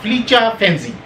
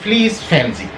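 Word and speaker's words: Felice Finzi: زبان کے اسکالر تھے مسٹر فلیچا فینزی، جس کا انگریزی زبان میں تلفظ ہوگا مسٹر فلیس فینزی۔ مسٹر فلیس فینزی 1847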